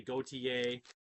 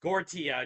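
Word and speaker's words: Gotye: May 21st 2006 gorta as I say his name people want to say gotier so I pronounced gorta go t Yee I believe it's his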